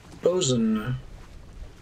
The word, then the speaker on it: boatswain: Bosun. I hate the way that bosun is pronounced. It's supposed to be spelled like that on the left. Boatswain.